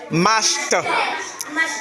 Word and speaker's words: mashed: Voilà, donc, avec finish, mash, le ED se prononce t. Donc, on va dire finished, mashed.